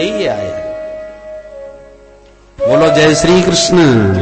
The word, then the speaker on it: कृष्ण: इनका हर काम टेढ़ा कृष्ण अच्छे भले बोल ना पावे बचारे कृष्ण शब्द का शुद्ध उच्चारण सब लोग नहीं कर पाते बोलेंगे किसन भारत का प्रसिद्ध शहर